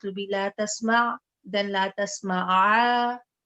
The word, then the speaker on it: لا تسمع: It will be la tasma, then la tasma'a, right? then because if you say la tasma, then you're essentially dropping the ain.